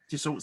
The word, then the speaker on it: Dassault: So was it, I don't know how to pronounce, Dassault Systems? Yes. Dassault Systems.